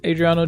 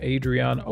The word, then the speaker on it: Adriano: the discount code yeah Adriano just or excuse me I've been calling him Adrian oh wait it is Adriano just butchered that